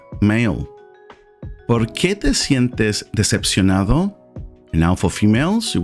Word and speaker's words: decepcionado: ¿Por qué te sientes decepcionado?